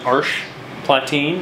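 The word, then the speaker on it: Arches Platine: so today we're using arch platine which is spelled arches but it's french so omit letters um it has a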